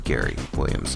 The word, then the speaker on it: Gerry Williams: This week we get to chat with a very talented musician named Gerry Williams, spelled like it sounds like Jerry, but it's actually Gerry Williams.